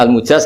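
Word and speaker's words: المجاز: Saya tidak perlu nulis sanad lagi karena sanad itu untuk al-mujaz, bacanya al-mujaz karena dari fi'il madhi ajaza.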